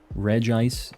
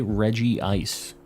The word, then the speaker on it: Regice: not very different ones Regice is the pronunciation A lot of people say Reggie ice and that's how it's spelled in Japanese too so like I'm not